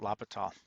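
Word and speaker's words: L'Hôpital: right either but uh it's a french or swiss name so i kind of get the impression you don't pronounce all the last um letters not sure i'll just call it lopital that's the special kind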